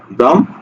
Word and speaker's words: ব্রাহ্ম: শব্দের এটার উচ্চারণ কি এটার যুক্ত হচ্ছে হ ম কিন্তু উচ্চারণ হয় ম আগে হ পরে ঠিক আছে তাহলে কি হবে ব্রাহ্ম